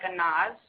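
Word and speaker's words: Anaz: It's a n a z. It's like a nause.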